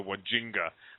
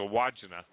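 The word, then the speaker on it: Wandjina: And it's I think Stan corrected my pronunciation, Deo did, but it's called the Wodjina, Wodjina or something. I used to call them the Wajinga, but it's a Wodjina.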